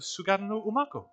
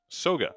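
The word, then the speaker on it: Soga no Umako: Since ancient times, people have said it's the resting place of Sugano Umako. Soga. No, Maku had one extra syllable in there.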